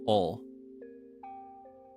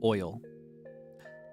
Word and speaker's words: oil: Because a lot of Southerners will pronounce it as ol. Yeah, I need some ol. Put some ol in the tank. Ol. But it's oil. Oil.